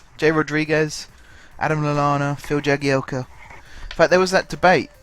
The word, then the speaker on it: Jagielka: ago swear there is Jagielka or yagi Elka and i still don't think it's properly been resolved because every now and then a commentator says oh I spoke to him and he said it's pronounced the eggy Elka and then the next week they're calling him Jagielka again who knows what